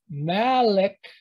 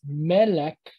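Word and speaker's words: מלך: So it's malek, malek. That would be essentially what it is. But Jews, often, like you'll hear some people pronounce it as Melech, Melechim. And what you'll see often is E is confused with A by the Jews compared to the original Hebrew. So you have an E sound followed by a quicker E, Melech.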